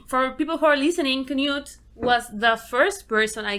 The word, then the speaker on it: Knute: here today with Newt yeah correct it's Knut Knut yes Kent it's it's one of the hardest words to pronounce here other than winner and winner yeah